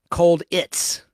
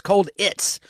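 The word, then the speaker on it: Colditz: Universal television series cits which is spelled cold like cold war itz cold its like a Ritz cracker cold Ritz cold its which ran from 1972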